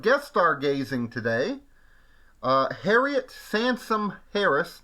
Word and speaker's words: Sansom: Uh, Harriet Sansom Harris, not Samson Sun, but Sansome, like somebody like mispronounced Samson or something, I don't know.